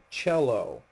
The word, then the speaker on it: cello: is not C it's cello in ital and this is an Italian word the the C by itself is pronounced CH so cello all right